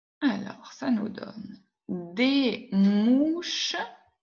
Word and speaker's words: mouches: Je ne prononce pas le S.